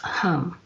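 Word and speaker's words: Ham: for the heart chakra is H AM pronounced a home and during meditation is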